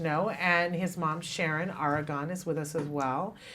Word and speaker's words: Aragon: um yes you are I I pronounce it Aragon argon okay well that's good to know and his mom Sharon Aragon is with us as